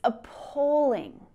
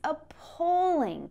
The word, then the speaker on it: appalling: is the stressed syllable in each word so that you can emphasize it. It's appalling. It's appalling. Can you hear me stressing that?